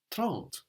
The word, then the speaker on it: trente: The same with trente, 30, which is spelled T-R-E-N-T-E. So the final E means the consonant isn't on the end of the word anymore. And so we know that we should pronounce it.